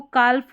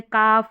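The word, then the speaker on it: calf: Number 17 में है शब्द के अंत में ये एल एम एल के एल एफ एल डी हो तो एल का उच्चारण कई बार नहीं होता कई बार नहीं होता मतलब मैक्सिमम ठीक है जैसे इसको काल्फ हल्फ योल्क फोल्क टोल्क नहीं पढ़ेंगे यहां पर इन सभी स्पेलिंग में जो है एल साइलेंट है जैसे जैसे काफ, हाफ, योक, फोक और टॉक। इस तरीके से इनका उच्चारण आप करेंगे।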